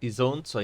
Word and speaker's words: Isonzo: Yeah, it is pronounced Isonzo in Italian or Socia in Slovene.